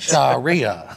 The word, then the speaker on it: Sharia: Sharia.